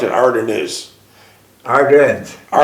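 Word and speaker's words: Ardennes: tanks through the rugged Ardon how do you pronounce it ardan is ardens say that again ardens forse ardens ardens uh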